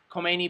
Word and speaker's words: Khomeini: n i call me it sounds like co-mini but it's pronounced khomeini um and he had